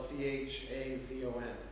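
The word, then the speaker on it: חזון: word for vision or prophecy is the word chazon, spelled C-H-A-Z-O-N, pronounced chazon.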